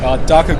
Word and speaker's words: Daka: How do you pronounce it? Daka Grid case organizer.